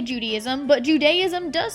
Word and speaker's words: Judaism: I know exactly how to say Judaism. He said, Rebecca, it's Judaism, not Judaism.